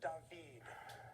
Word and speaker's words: David: He's French, so say his name like that of singing actor Diggs. Stan. What is Tay? No. Matt or Emmy? There is another singing Diggs. This is David.